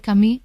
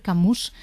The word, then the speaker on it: Camus: momento en este país pasamos a decir alber Camí bien pronunciado y no alber camus porque yo recuerdo profesores